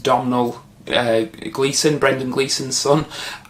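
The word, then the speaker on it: Domhnall: character uh played by i think his first name is pronounced domino uh gleason brendan gleason's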